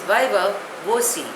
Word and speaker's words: viva voce: The next word is viva voce. Spelling is V-I-V-A-V-O-C-E. Pronunciation is viva voce.